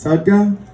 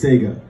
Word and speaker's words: Tsega: my life you see I pronounce my name in two ways there's shotgun and there's Saiga Saiga is the traditional Ethiopian way to say my name it's what my mom